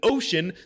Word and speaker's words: ocean: In Pacific and then ocean, the sea is pronounced as a sh.